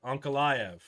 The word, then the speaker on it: Ankalaev: Ankalaev. We're gonna get these pronunciations, boys.